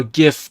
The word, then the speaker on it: GIF: the guy who made uh jif said it's pronounced jif but a lot of people pronounce it uh gif the guy who made gifts also died of